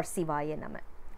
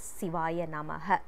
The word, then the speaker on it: Sivaya Nama: they are pronouncing it, they are saying it as Sivaya Namaha. But that is not the right pronunciation.